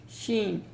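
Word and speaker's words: شين: of the mouth and the sound is sheen it's light and it is buzzing or kind of whistling sound And it's not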